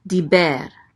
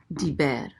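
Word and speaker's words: דִּבֶּר: Next we have a dalet with a chirik. So this is D. The chirik says E. So this is D. And this is a bet with a segol. The segol says E. So this is be. And then the resh closes out the syllable. So it says ber. Diber.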